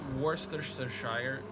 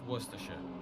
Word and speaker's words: Worcestershire: You know, it's not Worcestershire sauce, it's Worcestershire.